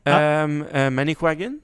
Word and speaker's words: Manicouagan: How do you Pronounce the spell lake it? again? Manicouagan. Okay, so MANICOUAGAN.